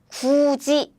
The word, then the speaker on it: 굳이: This one is about the palatalization.